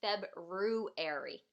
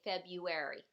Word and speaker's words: February: There's a weird little R in there, right? It's almost like it says February, but we don't pronounce it that way. we just say February, but there is a weird little R in there.